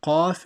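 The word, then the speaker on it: ق: So Qaf is full mouth and is pronounced from the bottom of your throat.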